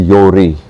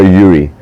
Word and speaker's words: Jorrie: right uh it's actually Yori so yeah j o Yori yeah yeah but it's very close most people go Yuri or think it's Russian yeah yeah y it's